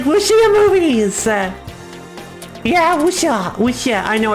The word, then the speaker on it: Wuxia: Let's see, Wuxia, yeah, but, yeah, Wuxia, it's Wuxia, but not Sha, it's Xia. It's pronounced with your Xia. It's kind of like your tongue is kind of like lower on your teeth, Xia, and your mouth is kind of wider.